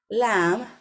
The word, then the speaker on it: lamb: middle of the word, you know that the B is silent and we don't pronounce it.